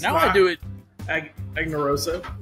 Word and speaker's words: Aganorsa: Aganorsa. It's Aganorsa.